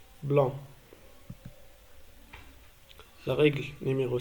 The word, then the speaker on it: blanc: Parfois, à la fin du mot, la lettre C ne se prononce pas. Exemple, blanc.